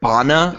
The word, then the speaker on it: Bana: Did you just say Eric Bana is a big name? I said Bana. So. Is it not Bana? Is it Bana? No. You said it right.